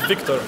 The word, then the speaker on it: Victor: Can I say it Victor or is it Victor? It's Victor. Victor?